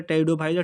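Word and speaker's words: Pteridophyta: algae ब्रायोफाइटा टेडो Pfizer टेरिडोफाइटा टी से शुरू नहीं होता है पी से होता है पी साइलेंट होता है ठीक है इसके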